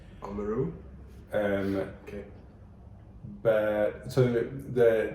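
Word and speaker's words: Oamaru: probably correct yeah well I pronounce it how I would pronounce it um uh which I would say omaru omaru um okay but so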